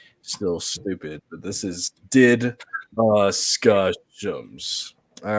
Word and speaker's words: DDiscussioMs: This is the pronunciation if you're still stupid, but this is DDiscussioMs.